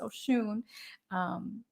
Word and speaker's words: Oshun: I'm never mad when people are like, it's ocean sound. I'm like, well, it's water, but it's Oshun.